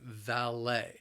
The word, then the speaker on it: valet: they are the valet the word has two syllables the stress is again on that second syllable and the problem is the same that le T is pronounced Lai valet valet parking is five